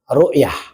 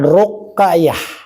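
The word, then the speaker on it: ru'yah: Ya, kenikmatan ahli surga yang paling sempurna yaitu rukyah bukan ruqayah ya. Beda ya seperti rukyatul hilal bukan rukyatul hilal. Salah jangan salah menyebutnya. Ini rukyah.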